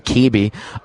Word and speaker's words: Caby: Taylor Caby, and that is how you pronounce his last name, Caby, is coming on the show after the break.